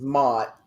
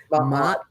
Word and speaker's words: Ma'at: Okay, so that is Mott. I was going to ask you how you say her name. Ma'at.